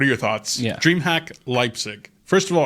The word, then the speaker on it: Leipzig: DreamHack Leipzig. First of all, are we saying it right? Normally we butcher the names of German cities. Leipzig. Yeah. Leipzig. Excellent.